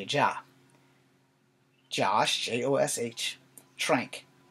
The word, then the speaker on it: Trank: shrink gives me a job Josh jo SH tranq tra NK like tank but with an arm alright may have respected